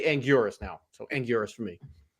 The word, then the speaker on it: Anguirus: So, I used to love the pronunciation of Angillis. Um, that's what I grew up knowing him as. But when Toho officially came out and was like, "No, it's Angurus."